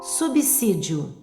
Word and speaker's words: subsídio: Subsídio pronuncia-se como dois s.